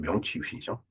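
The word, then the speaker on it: 明治維新: 그 명치유신이 있었죠 어 일본말은 메이지이 신이라고 이제 우리는 메이지 유신 메이지 유신 이렇게 얘기 합니다 근데 우리이 발음대로 읽으면 명치 신이죠 자 똑같은 성격의 어떤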